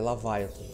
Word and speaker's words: Leviathan: É a segunda opção. É Leviathan. Que eu a ênfase na primeira sílaba.